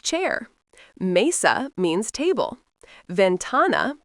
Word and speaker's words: ventana: Ventana, phát âm là ven-TAH-nah, nghĩa là cửa sổ.